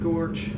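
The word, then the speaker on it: GOARCH: And these are Goose and Gorch, and apparently those are the official ways of pronouncing those, FYI.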